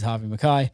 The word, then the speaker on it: Harvey McKay: So I actually introduced him wrongly on the podcast, but his name is Harvey McKay.